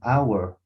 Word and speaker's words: hour: that no it's an hour yes why because this h it's like muted right yes because of the pronunciation of this word so it only happens